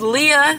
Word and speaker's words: Liah: Okay, let's for you, whoever's new here, my name is Liah, not Liah. I know it's spelled Liah, but it's fucking Liah.